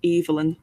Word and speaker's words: Evelyn: So with her character, she's made a point of her character is her name is pronounced Evelyn with like that long E sound.